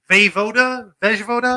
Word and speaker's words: Vejvoda: Vejvoda? Let me see that shit. Jim Vejvoda. I think the J is silent. It's Vejvoda. Vejvoda.